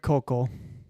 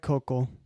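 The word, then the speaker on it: Koukl: I think you say it focal I think is the um it's Greg Kokal.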